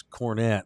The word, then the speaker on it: Kornet: Except that's not how you pronounce cornet, but whatever. How you say it? It's a Green Hornet. It's cornet. Oh. It's not hornet.